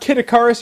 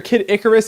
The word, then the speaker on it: Kid Icarus: Icarus and if you've ever wondered if it's pronounced kitikaris or Kid Icarus it's Icarus Icarus thus saith the dictionary and